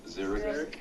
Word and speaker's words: xeric: All right, Zero, how do you pronounce that? Xeric.